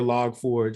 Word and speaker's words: Log4j: for you know for log forge or log4j is how some people pronounce it oh we caught in